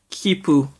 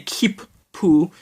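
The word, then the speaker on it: 切符: think ticket spells like you pronounce is like this khipu with two peas and the reason for that is we the reason you say two peas like there isn't you say keep Pooh is because this is foo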